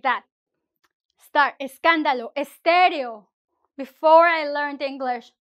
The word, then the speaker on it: escándalo: Escándalo. We don't say scándalo. We don't start with s.